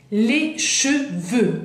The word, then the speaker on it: cheveux: Les cheveux, veux. Ahí tenemos EU, termina con X, no la pronunciamos.